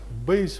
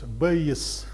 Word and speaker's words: Bayes: name here well first nobody really knows the right way to pronounce it i consulted the internet and found at least three different versions of of pronunciation base base one one of the versions bayes is another one and some other versions are also possible now actually it's the